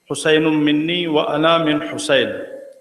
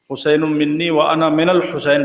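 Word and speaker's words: حسين مني وأنا من حسين: को वो हदीस याद हुसैन मिन्नी व अना हुसैन आमतौर से इस हदीस को लोग हुसैन मिनी्नी वन हुसैन पढ़ते हैं। हालांकि इसका सही प्रोनाउंसिएशन हुसैन मिन्नी व अना हुसैन हुसैन नहीं अरबी ग्रामर के ऐतबार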